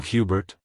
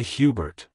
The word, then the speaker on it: Hubert: in the first syllable The Bert is pronounced as Bert in Albert like hello Hubert goodbye Hubert if you found the